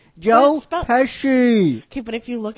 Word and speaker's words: Pesci: starring Macaulay Culkin, Joe Pesci, Pesci, Joe. Hey, don't you dare! Don't you dare! There's no Joe H. Pesci, not Pesci. Not like you're taking a piss. Joe Pesci.